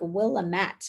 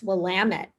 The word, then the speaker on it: Willamette: and went down to willamette um which is the wine region and i always thought it was like willamette but it's willamette and they always say it rhymes with damn it that's how you remember